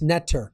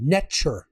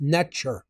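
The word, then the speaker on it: netjer: was actually not pronounced neter that's the English equivalency phonetic it was actually pronounced n the t is a CH sound hard like TCH neure that's how it was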